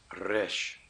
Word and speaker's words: resh: And now for the R sound. Resh. Resh. Just like Spanish.